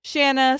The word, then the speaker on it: Shanna: to Aspire to Cheers Shanna still rhymes with banana and seriously the only